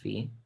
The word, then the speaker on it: phi: This thing's pronounced phi.